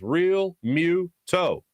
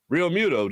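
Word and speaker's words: Realmuto: and he goes yeah people try to do way too much with it it's just real mew toe rio muto just a just a good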